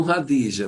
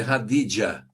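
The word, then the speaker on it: Khadija: É, os cristãos chamam radija, mas é radidia.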